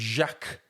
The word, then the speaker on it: Jacques: And I don't like the way that he is called Jax. His name is Jacques, for fuck's sake. It's spelt Jacques. It's French.